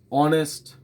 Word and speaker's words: honest: Like an honest person. See, H we are not pronouncing.